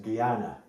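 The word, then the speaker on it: Jnana: um which is the Gana yoga I know that's spelled a little funny should be with a G but for some reason it's always spelled with a J but it's pronounced Guana Gana yoga basically is the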